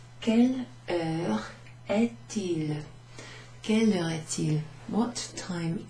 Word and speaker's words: est-il: So we've got this little hyphen there, and then that means that you need to pronounce that T. Quelle heure est-il?